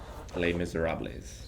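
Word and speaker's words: Les Misérables: Les Miserables.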